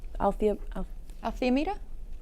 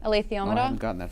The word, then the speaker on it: alethiometer: Saying that while she was reading the Alethiometer, it was like when you're playing chess and you are Say that again. yep Althiometer. Althiometer. How do they say it in the book? Alethiometer.